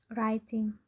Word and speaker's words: writing: When we read writing, the letter W is not pronounced, so we will read it writing.